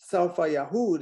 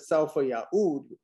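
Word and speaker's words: سوف يعود: In fact, many of them actually mispronounce completely that verse and say Saufa Yahud instead of Saufa Ya'ud, and they just mix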